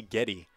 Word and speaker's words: Getty: A little pronunciation correction right here is going to be number 18, Casey Getty, is in the circle.